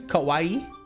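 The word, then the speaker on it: かわいい: So like in Japan, it's kawaii. Kawaii kawaii like Hawaii.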